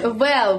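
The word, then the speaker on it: VAL: Правильно говорить Вэл вообще-то, а не Вал. Все говорят Вал. Вал это привал. А Вэл будет у нас всех, кто говорит. Вал будет Вал. А сейчас это Вэл.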